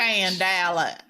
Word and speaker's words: scandale: Scandale.